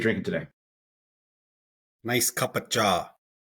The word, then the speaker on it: cha: Cha to us Indian folks is tea. Beautiful. So often pronounced chai in North America. I've seen Starbucks, they bust out the chai, C-H-A-I. Yeah. But to Punjabi folks, it's cha, C-H-A.